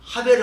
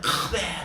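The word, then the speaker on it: חבר: 근데 사실은요 이것도 이렇게 발음하면 안 돼요. 왜냐면 이거하고 이게 좀 달라. 구멍이 뚫린 거하고 구멍이 붙은 거 이거는요 기시금 가래뱉는 소리가 하벨을 아니야 카벨 이런 식으로 조금 과장되게 말하면 이게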